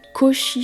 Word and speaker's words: Koshi: C'est un carillon et ça s'appelle Koshi Chimes. Chimes, bon bah c'est en anglais pour carillon. Koshi, ça s'écrit K-O-S-H-I et Chimes, c'est C-H-I-M-E-S.